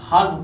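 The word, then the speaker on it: half: हा ल फ हफ पढ़ते हैं।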